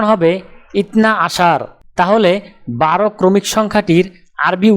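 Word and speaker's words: اثنا عشر: আরবি ক্রমিক সংখ্যা 12 দেখতে এরকম, উচ্চারণ হবে ইতনা আশার।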